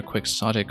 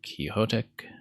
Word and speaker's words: Quixotic: other streamers try but I accept either a quick soic or kyotic after donot de lancha because both of those are in common enough usage in English that you actually do see both pronunciations cited in various dictionaries and the letter N